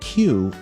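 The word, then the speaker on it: 九: Having gotten its name from the 93 on its jersey, number 9, pronounced Q in Japanese, Q3's predecessors, Q and Q2, were developed to throw free throws too.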